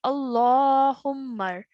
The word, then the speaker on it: اللهم: So over here, it's a vertical fatha. So rather than saying Allah, we're going to say Allahumma, like that.